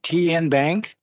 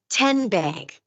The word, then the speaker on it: TN Bank: TN Bank. Nope. Tin Bank. Uh-uh. So, what is it? 10 Bank. 10 as in Tennessee.